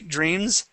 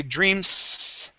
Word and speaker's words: dreams: the word dreams okay dreams okay we don't say dreams okay with an S sound it's dreams okay it has that that vibration okay so let's take